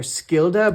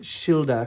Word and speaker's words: Skilda: There was also I think I called her Skilda but I believe that it's actually pronounced Shilda because of the kind of old English pronunciation pronunciation.